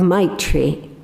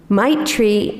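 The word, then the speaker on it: maitri: today's reflection with the Tibetan Buddhist concept of my tree it's spelled m-a-i-t-r-i might treat means something like our words benevolence loving kindness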